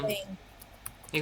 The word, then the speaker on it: têm: Sim, a única diferença é na escrita, mas não Ah, na pronúncia. Então, quando é singular, você escreve tem, te enviei no chat, e quando é plural, você vai colocar um acento circunflexo. Eles têm, mas a igual. pronúncia é igual.